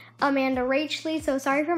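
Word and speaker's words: Amanda Rach Lee: for mispronouncing her name i thought it was amanda ratchli but i've come to know that it is amanda rachel so sorry for mispronouncing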